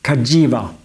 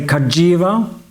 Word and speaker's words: Cagiva: since I bought it the name is supposed to be pronounced Kaja with a G for giovan so I'll try to remember to say Kaja from now off Kaja